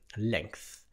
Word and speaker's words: length: anglais ça se dit length attention le GTH peut-être un peu difficile à prononcer length la l'unité la plus